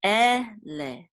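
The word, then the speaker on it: אלה: Okay, so this is an aleph with its sere, which is e, and a lamed with a segol and a hey together. And this is the trope mark, munach. So this will say ele, ele, which means these.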